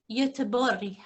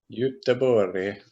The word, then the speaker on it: Göteborg: Göteborg. Göteborg.